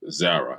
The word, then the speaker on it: Zara: But the name of the store is called Zara, and I believe I'm saying it correctly, Z-A-R-A.